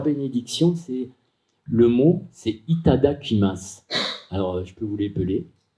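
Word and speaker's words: いただきます: Et leur bénédiction, c'est, le mot, c'est Itada Kimas. Alors, je peux vous l'épeler. Itada, comme ça se prononce, I-T-A-D-A, Kimas, K-I-M-A.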